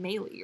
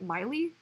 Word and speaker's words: Miley: Well, because the instinct would be to pronounce it Meili, right? But Miley?